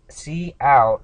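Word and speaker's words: cout: prints out hello world C C out is how it's pronounced but what it stands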